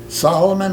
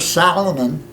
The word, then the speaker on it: Solomon: Suez Canal okay and the Egyptians mispronounced my name Solomon the Salomon s al s al